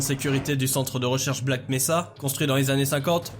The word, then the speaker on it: Black Mesa: bien ce que c'était black mesa et ensuite mois au moins j'étais foutu de le prononcer correctement elle elle le disait black mézard pour couronner le tout